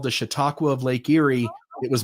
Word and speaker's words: Chautauqua: And then finally, we'll say ciao to, I'm not even going to try to pronounce it, Chautauqua. Is that how you say it, Bill? Chautauqua? Chautauqua. That's what I thought.